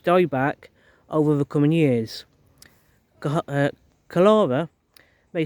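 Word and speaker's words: Chalara: It all started with something called cholera, pronounced cholera. This airborne fungus infects and kills our native ash trees.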